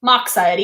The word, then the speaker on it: Moxiety: I pronounce the X like in Fox. So Moxiety.